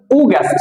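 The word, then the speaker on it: August: আর এটাকে আমরা বলতাম আগস্ট সাধারণত ভুলটা অনেক আগস্ট এটাকে আমরা বলব উগাস্ট কি বলব উ্যাস আর এগুলো কিন্তু স্মার্টলি আমরা উচ্চারণ করতে পারি সেপ্টেম্বর অক্টোবা নভেম্বর ডিসেম্বর এরকমভাবে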